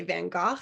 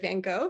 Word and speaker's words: Van Gogh: finding out that um you're supposed to say Van Gogh instead of Van Gogh for the painter and my sister Chrissy who's